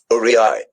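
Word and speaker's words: aurei: But when it's used in the plural form, so you've got a lot of those gold coins from the Roman Empire, it's pronounced like Uriai, Uriai, uriai, Uriai, uriai.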